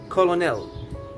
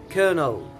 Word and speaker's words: colonel: follows let's talk about number one most people pronounce it colonel which is incorrect we have to pronounce it colonel colonel colonel okay what about number two the